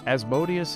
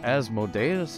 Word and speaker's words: Asmodeus: begin with this the ruler of the nine Hells as modius is correct asmodeus is correct it's okay it's all in where you place the emphasis and guess